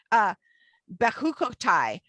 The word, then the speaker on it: Behar-Bechukotai: Behar-Bechukotai.